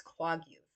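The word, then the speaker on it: Kwagiulth: Um, and it's not even pronounced that way. It's Kwaguth.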